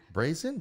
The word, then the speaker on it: brazen: let me tell you raisin brazen that's how you say it yes let me